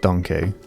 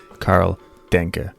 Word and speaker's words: Karl Denke: Hey creeps, this is Editing Adam here, and I just realised that it's not pronounced Denke, as fun as that sounds. It's actually Karl Denke.